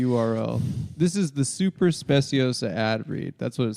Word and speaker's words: Speciosa: This is the super speciosa ad read. That's what it says at the top. Spiosa is pronounced specio.